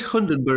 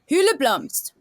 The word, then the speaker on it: Hyldeblomst: I thought it was Hundenberg. No. I love his pronunciation. Yeah, he's trying to say Hildeblomst. Hyldeblomst.